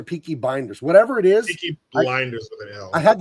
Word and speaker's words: Peaky Blinders: Peaky Blinders. What the hell? I had the name wrong for like three years and I I